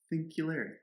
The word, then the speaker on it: Thinkularity: Thinkularity. Is that how you pronounce it when you say it? We've only texted it. Thinkularity. Yeah. Okay. It's singularity. Yeah. So I got that connection.